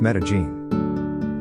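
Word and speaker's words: Medellín: If you visit Colombia, the place to go is Medellin, Colombia, which is pronounced Medellin.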